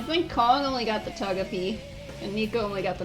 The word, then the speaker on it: Togepi: I think Kong only got the Togepi, and Nico only got the Noctowl.